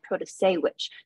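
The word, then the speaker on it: Protasiewicz: vote for judge Janet Pro to say which the Supreme Court election is liberal pan candidate and that first name you've heard that last name is pronounced Pro to say which Janet produce sandwich but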